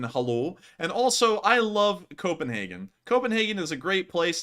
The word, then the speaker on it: Copenhagen: Not with such an emphasis on the HAG, but something like that.